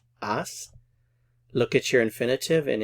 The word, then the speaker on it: has: h-a-s goes with du the H is silent ass look at your infinitive